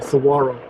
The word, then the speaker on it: saguaro: to the giant saguaro i don't think you pronounce the g saguaro according to the maps